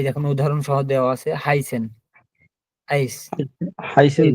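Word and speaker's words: heißen: যে শব্দের শুরুতে বা মাঝে যখন এ আই থাকে তাহলে আয়ের মতো উচ্চারণ হবে। এই দেখুন উদাহরণ সহ দেওয়া আছে। হাইসেন, আইস, হাইসেন এই জি।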